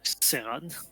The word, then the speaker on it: Saran: Donc, Saran, qui se prononce Seran.